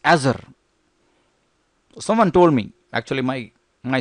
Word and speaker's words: Azure: It's not Azure. It's Azure. Someone told me Actually, my son, he told me, hey, old man, it's not Azure, it's Azure. It took me 5 minutes to have the right pronunciation.